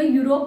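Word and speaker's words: Europe: लेकिन suppose that जैसे हम कोई वर्ड ऐसा बोलेंगे, यूरोप बोले, यूरोप के साथ हमें ए और एन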